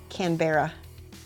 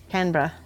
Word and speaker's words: Canberra: you say Brisbane not Brisbane Brisbane Canberra not Canberra Canberra a dingo H up baby no Mike he's